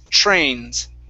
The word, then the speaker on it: trains: So with that TR, pronounce a CHR sound. Chr, trains.